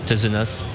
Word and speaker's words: Tezenas: directeur de netia monsieur terrenas on prononce pas de s je pense raisonnable de